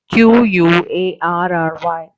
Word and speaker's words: quarry: this place is called quarry see have written there re this real spelling is q u a r r y but we pronounce it like query so here this is